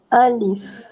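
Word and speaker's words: ألف: Tak saya dengar sebut Alfiah je. Alif. Jadi sebutannya pendek. Tak boleh panjang. Alif. Salah. Yang betul alif. Satu harakat sahaja. Sebab ejaan dia alif, lam, fa. Bukan alif, lam, ya, fa.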